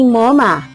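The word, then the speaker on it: Momma: Ito naman po si Moma. Sinasabi po ang name niya as Moma. Parang M-O-M-A. Bakit po ba Moma? Tapos ang spelling ay M-O-M-M-A. Moma po kasi is named after my beautiful mother who is now in heaven.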